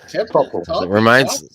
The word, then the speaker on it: Tipple: Oh yeah, Tipple. Rhymes with nipple.